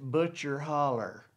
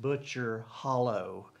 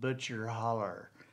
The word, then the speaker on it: Butcher Hollow: she she pronounced it butcher holler she didn't pronounce it butcher hollow um it spelled butcher hollow but she pronounced it butcher holler and um you know